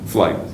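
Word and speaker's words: Flygt: F-L-Y-G-T. Flight, and that's made in Sweden.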